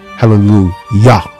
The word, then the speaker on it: Hallelujah: Hallelujah, Hallelujah, it's still pronounced Hallelujah, Yah. It has the Yah on the end.